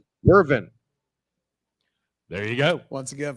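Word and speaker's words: Wyvern: Includes an image of Morpheus, aka Dream, the Furies, Griffin's Bones, the Hippogriff, and the, how's that pronounced? Vern? Wervin.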